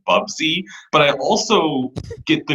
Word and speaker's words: Bubsy: wrong i like it i have half a mind to correct you on the pronunciation of the character's name that's bubsy but i also get